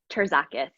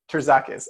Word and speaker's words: Terzakis: Terzakis. Terzakis. Okay, cool. I know I would have personally done some kind of weird magic and it would have not sounded correct. So Jessica Terzakis, thank you so much for being on.